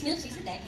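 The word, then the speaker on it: Melchizedek: So Milch Ciscitech daw po yung pronunciation. Siguro ba depende siya sa school kung saan kanal pero technically it's Mil Cisicidec.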